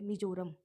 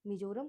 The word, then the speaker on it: Mizoram: अब आगे है मिजोरम, MIZORAM, meso, मिजोरम, two parts में, मिजो और रम के स्पेलिंग याद करके कर सकते हो।